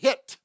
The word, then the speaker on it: HIIT: And that's how they pronounce it, HIIT.